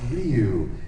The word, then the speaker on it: Ryu: hired me and they told me how it's pronounced it's ryu and padokin i'm just doing what they tell